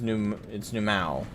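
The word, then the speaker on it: Nu Mou: So it's not New Mu, it's New Mao. Alright, so I said it okay, so I said it right correct the first time.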